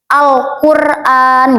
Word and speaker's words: Al-Qur'an: Jadi bacanya gini. Alqur'an gitu. Al kan jelas kan al gitu lamnya dibaca alif lamnya.